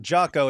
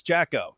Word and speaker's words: Jacko: Mark Jackson, not Jocko. It's Jacko.